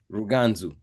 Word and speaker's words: Ruganzu: Ruganzu. Ruganzu.